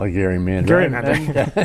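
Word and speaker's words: gerrymander: our panel at the Constitution Center I said Jerry Mander and someone corrected me and said it should be pronounced Gary Mander because Elbridge Gary uh was the uh originator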